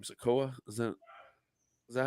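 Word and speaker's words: Sikoa: taking a shot at um what's his name sakoa is that is that how you say his name yeah SOLO yeah SOLO sakoa he took a shot at him but again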